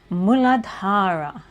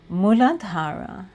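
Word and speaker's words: मूलाधार: The root chakra, it's in Sanskrit, the way to pronounce it is Muladhara. Muladhara.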